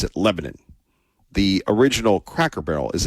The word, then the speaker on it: Lebanon: to Israel, and it comes down to Lebanon, or as they pronounce it in the South, Lebanon, and whether or not